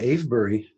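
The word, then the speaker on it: Avebury: And uh so then fast forward um Will and I go to Abury I think and correct me if I'm pronouncing the name wrong.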